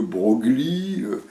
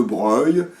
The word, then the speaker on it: Broglie: sait bien par exemple que deux brogly à 15 ans on prononce de gros lit puis après on comprend que ça se dit de Breuil mais dessous il y